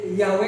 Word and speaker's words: Yahweh: Makanya yang benar itu Yahweh itu benar gitu. W dibacanya bukan kalau mau pakai zaman sekarang Yahweh gitu kan.